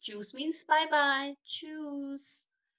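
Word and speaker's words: tschüss: juice means bye bye choose here t and s is the silent you're not going to speak this to use you're going to say choose and here you are going to pronounce the ch not choose choose choose okay choose you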